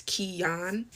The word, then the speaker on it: Kyan: Like, because it means like little king according to my mom, but it's spelled Kyan, and everyone always thinks it's pronounced Kian, but it's Kian.